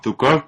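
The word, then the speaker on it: Zhukov: palabras del Mariscal suuk es que se pronuncia Como así pero más o menos se lee como zukov pero no os molestéis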